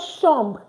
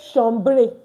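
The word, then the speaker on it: chambre: In sham meaning a room good in sham a room so you see I said sham I didn't say shamre why we don't pronounce this e don't pronounce the r e so it's in sham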